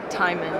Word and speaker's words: Timon: Timman. Like Timone and Pumba.